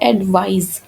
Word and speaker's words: advise: और जो second one है वो है एडवाइस, तो इसकी प्रोनाउंसिएशन है एडवाइज, ज की साउंड आती है एंड में।